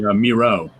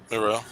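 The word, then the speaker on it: Mireault: the ones by Bernie Miro. Miro, right. Which I didn't know that's how you pronounce his name. Because it's Miralt. But in these issues, even Matt Wagner says rhymes with zero.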